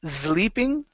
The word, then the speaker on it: sleeping: next one here is sleeping instead of sleeping give me a good s sound SLE sleeping sleeping okay